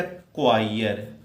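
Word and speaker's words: choir: इसको पढ़ा जाता है बेटा क्वायर, क्वायर, प्रोनाउंसिएशन ध्यान से देखना और निकालने में भी बहुत सहूलियत बरतिएगा आप लोग।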